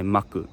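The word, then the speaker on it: マック: If someone is talking about McDonald's, they say actually they just say maku.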